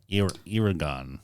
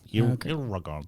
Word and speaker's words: Eragon: Yes, but it's spelled with an E. Oh, okay. Eragon. Eragon.